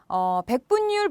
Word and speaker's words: 백분율: 그 다음 백분율 보죠. 백분율은요. 백분율 니은 받침입니다. 니은 받침은 율로 발음되어야 되고요. 율로 써주셔야 되겠고요.